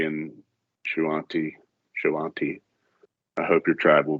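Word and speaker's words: Shoanti: How do you say that word? Shawanti? Shawanti.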